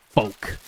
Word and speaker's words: folk: struggle to say because it is kind of like folk like with a weird silent L and I don't know.